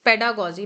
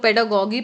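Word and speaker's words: pedagogy: पेडागोजी को बहुत लोग पेडागोगी पढ़ते हैं। मैंने कई बार लोगों को सुना है पेडागोगी। पेडागोगी रॉन्ग प्रोनाउंसिएशन है। आप यहां भी देख सकते हैं पेडागोजी। ठीक है? ये ग है और यह जा है।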